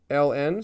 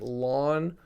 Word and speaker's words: ln: up this is red Ln so you would read it like l n like the letters or you might pronounce it as the natural log the natural log uh